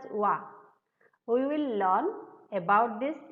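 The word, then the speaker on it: は: You think that this is alphabet hiragana ha. How I pronounce as wa.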